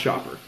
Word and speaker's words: Schaper: Yeah, it's pronounced Schaper.